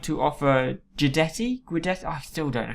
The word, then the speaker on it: Guidetti: I would like to offer Guidetti. I still don't know how to pronounce his. I guess if Giuseppe is G, so it's Guidetti, I reckon.